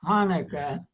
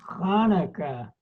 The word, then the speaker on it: Hanukkah: Wait, you have to pronounce the ch in Hanukkah. It's not Hanukkah. It's Hanukkah.